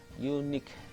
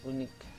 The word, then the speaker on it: unique: Sementara yang bawah, yang h, unique dibacanya ini bukan unik, karena kalau unik itu kan membaca versi bahasa Indonesia, while in English it is pronounced as ya, unique, makanya artikel yang dibutuhkan adalah next.